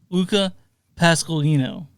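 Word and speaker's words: Luca Pasqualino: to honor the actor his name is pronounced Luca pascalin Pas M said yeah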